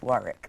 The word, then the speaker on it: Warwick: let's clear it up my name actually is warwick with double r right a label copy